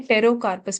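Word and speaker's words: Pterocarpus: टेरोकार्पस से याद रखना है, टेरोकार्पस, पी साइलेंट है, टेरोकार्पस मार्सुपियम।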